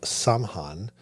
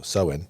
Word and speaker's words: Samhain: Halloween originated from the ancient Celtic festival of Samhain, pronounced way off how I said it. So Samhain, which marked the end of the harvest season and the beginning of the winter.